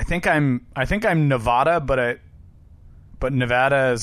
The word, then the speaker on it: Nevada: Gordon to Time magazine apparently the only acceptable pronunciation of the state is Nevada no balancing the state's name incorrectly can draw